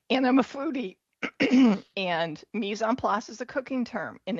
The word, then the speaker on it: mise en place: So my company name, it's a French term. It's pronounced mise en place.